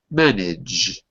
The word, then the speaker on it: manage: So it's not manage or manage like in Brazilian Portuguese, but it's manage with no E. Don't say anything.